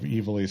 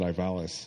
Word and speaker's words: Ivalice: where you had to correct me on the pronunciation of evilise because I always called I always pronounced it Ivalis.